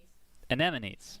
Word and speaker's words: anemones: How do you pronounce that word? Folks, if you can just kind of type in anemones. Anemones.